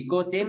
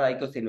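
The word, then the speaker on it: icosane: இகோசேன் ஆர் ஐகோசேன் உங்களுக்கு பிடிச்ச மாதிரி ப்ரொனவுன்ஸ் பண்ணிக்கலாம்.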